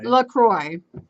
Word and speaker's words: LaCroix: I I call it la croaks but like it like Americanized French Lacroix the correct pronunciation is la CRO I as it it rhymes with enjoy know it's Lacroix it's